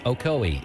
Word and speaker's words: Ocoee: expires I'm dwane from Cleveland Tennessee and it's pronounced Ocoee Etowah and hawasi Adam Denver asoe hawasi itoa